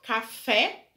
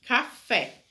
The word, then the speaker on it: café: A sua sílaba tônica é a última, café, e é acentuado porque é uma oxítona, ou seja, a sílaba tônica tá na última, terminada em E, café.